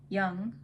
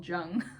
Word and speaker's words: Jung: because he actually mentions Young, who I often accidentally call Jung because of the way it's spelled.